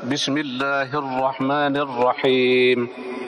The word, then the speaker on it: Bismillahirrahmanirrahim: auzubillahiminasyaitanirrajim Bismillahirrahmanirrahim nah huruf rnya tafkim tebal tebal cara membacanya seperti itu perhatikan imam-imam membaca Bismillah Bismillahirrahmanirrahim nah orang-orang Arab anak-anak Tuh baca r-nya seperti itu ya dan dia double hurufnya Bismillahirrahmanirrahim waktu tasdid itu